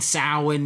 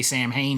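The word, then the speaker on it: Samhain: They're all connected by a mysterious pumpkin-headed Sam, maybe he's Sam Hayne, Sin, if you want to get technical on how to pronounce it. We say Sam Hayne here in the United States.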